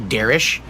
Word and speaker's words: Derek: He actually told me later it's actually Derish, and I was like, oh, I had no idea that it's actually pronounced completely different.